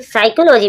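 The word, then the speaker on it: psychology: साइकोलॉजी means होते हैं मनोविज्ञान। यहां पर आप देख रहे हो पी को। पी के बाद जब एस आता है पी साइलेंट हो जाता है।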